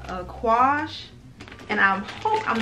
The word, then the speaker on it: Aquage: And what I actually purchased is, it's another very well-known line called Aquage.